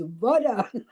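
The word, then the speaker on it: woda: So we were very clear that my pronunciation was correct. Barbara, Barbara, never ask for vodka. It's Voda.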